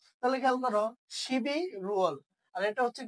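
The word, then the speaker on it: 십일월: এটার সাথে ওয়ালটা যুক্ত করে দাও, তাহলে শিবি, তাহলে বিয়োগটা উপরে চলে যাচ্ছে, রিউলটা উপরে চলে যাচ্ছে, তাহলে শিবি রুয়াল কি উচ্চারণ হবে? শিবি রুয়াল, মানে হচ্ছে কি নভেম্বর মাস।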